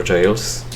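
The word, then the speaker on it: gaol: which is the ever jails. So, you you ever notice how it's spelled ga? G A O L, but you pronounce it jail. Just like J A I L.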